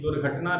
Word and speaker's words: दुर्घटना: Louis के साथ दुर्घटना घटी थी कार्यशाला में, तो एक दुर्घटना भी में भी ये है। तो हमारा चौथा शब्द है दुर्घटना। दू के बाद में हमने इस र को पढ़ा दुर्घटना।